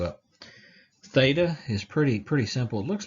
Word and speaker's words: theta: Theta is the TH sound, th.